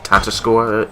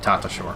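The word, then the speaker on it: Tatasciore: It's Fred Tatascore. Red Tatashore. Yeah, Tatascore, sorry. It's the spelling of the name that throws a lot of people off on the pronunciation.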